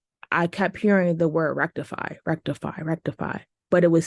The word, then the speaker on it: Rektify: in a dream I kept hearing the word Rectify Rectify Rectify but it was spelled like I could see the words and the